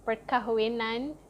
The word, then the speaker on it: perkahwinan: Majlis means ceremony and perkahwinan means wedding. So I know it's a long word, but Malay is very, very straightforward. You just pronounce it exactly the way it's spelled.